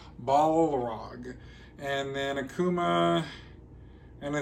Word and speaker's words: Balrog: I said it right this time. Balrog. I know some people were kind of mad because I kept saying Balrog, but it's Balrog.